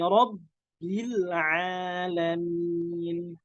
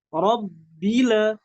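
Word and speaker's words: رب العالمين: Alhamdulillahi rabbil alamin. Rabbila, rabbila itu salah. Nggak boleh. Nggak boleh mantul karena lam bukan termasuk dari huruf qalqalah, tapi harus dibaca dengan inhiraf, dimiringkan lidahnya supaya tidak mantul. Rabbil alamin.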